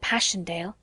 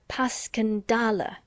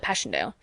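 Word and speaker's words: Passchendaele: was so strange to hear you call it passionale why if I may ask because that's the way I pronounce it to myself but I looked it up and it's more like pasala bless you all the tommies call it passendale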